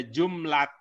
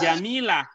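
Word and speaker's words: جملة: utama ini ya Ada jumlah tim jumlah tune ini bukan Jamilah ini bukan Jamilah jumlah dengan jantung tapi tak sama ya ini memang nyerah atau ada yang bacanya tadi bacanya Jamilah ini memang serupa serupa ada gym ada Meme gitu ya Ada serupa kesurupan tapi tidak sama kata jumlah beda dengan kata Jamila Jamila oh iya katanya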